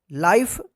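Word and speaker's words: life: है ना आई है तो इस आई का आई उच्चारण होगा ई का उच्चारण नहीं होगा लाइफ इसी प्रकार से यहां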